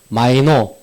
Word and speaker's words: MIKNOU: 오늘 가장 중요한 부분인데 MIKNOU, 마이노 또는 마이노 학사 정보라고 읽고요.